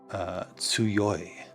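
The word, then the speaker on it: 強い: And this is, let me see if I remember this, how to pronounce this kanji. That is tsuyoi.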